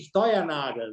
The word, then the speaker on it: Steuernagel: Pero ahí los alemanes dicen Steuernagel, ¿no? Entonces, porque soy de descendencia alemana.